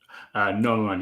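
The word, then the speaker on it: gnomon: And you tell me, is it Noman? Noman, yes, like the Noman on a sundial, yes.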